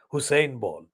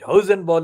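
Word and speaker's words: Hosenball: journalist American journalist called Mark Hausen ball not Hussein ball it hosen ball is spelled h-o-s-e-n b-a-l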